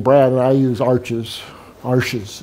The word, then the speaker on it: Arches: Arches, it's pronounced, just like my name, Archambault.